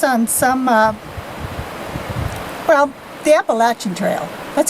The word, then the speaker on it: Appalachian: so i guess on some uh well the appalachian trail that's how you say it right appalachian not appalachian like i tried i used to say appalachian